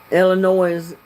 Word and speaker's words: Illinois: Illinois, yeah, doesn't have the S spoken either.